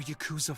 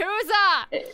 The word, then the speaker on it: Yakuza: Why is everyone pronouncing it as Yakuza? It's not, it's like, it sounds like Jacuzzi to me. So every time they say Yakuza, I'm just thinking of a bad Yakuza.